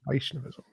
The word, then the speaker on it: Vaishnavism: me some more about uh how do you pronounce it vaishnavism is that correct vaishnavism yes vaishnavism right so within the Hindu complex of traditions